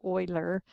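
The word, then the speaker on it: Euler: the Swiss mathematician named Oiler it's pronounced like a German word Oiler and so that's in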